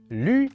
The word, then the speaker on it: lǜ: For example, lǜ means green, but if you mispronounce the U, you could end up saying lù, which means road.